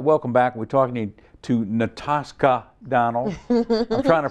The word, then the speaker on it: Natascha: We're talking to Natascha Donald. I'm trying to pronounce it right. Natascha.